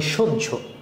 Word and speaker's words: সহ্য: যেমন মনে করো আমরা লিখি কি এরকম? স আর হজফলা। এটাকে যদি উচ্চারণ করলে হবে কি? সহ। কিন্তু আমরা কি সহ বলি? আমরা কি বলি সহ্য।